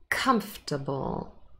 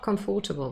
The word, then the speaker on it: comfortable: it's in the middle comfort it's on the first syllable and develop here d that lip develop on the second syllable they retain the same stress pattern so we do not stress prefixes and suffixes it's unimportant comfortable not comfortable by the way comfortable and